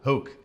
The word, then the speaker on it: Hoek: I don't know. Hoek. It's Hoek. Yeah, English people always pronounce it a way different way.